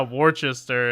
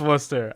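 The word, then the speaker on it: Worcester: like I'm like yeah Worchester and and I know it's Wooster I knew that one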